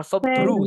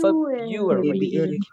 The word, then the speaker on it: February: Bukan Febru, tapi February.